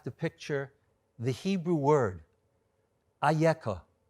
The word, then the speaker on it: אייכה: read it those are the consonants we read it ayeka but it could be vocalized in another way and the midrash on ayeka picks up this point the ayako addressed to adam will become later on in history another word spelled aleph huff and hay but will be verbalized will be vocalized as echa how did it happen